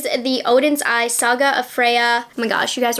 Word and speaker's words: Freya: odin's eye saga a freya oh my gosh you guys were coming down my throat because i was pronouncing it frija i'm learning spanish right now okay i was like pronouncing it in spanish anyways saga of freya